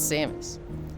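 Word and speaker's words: Samus: Um, it's Samis. See you to pronounce You look like a queen.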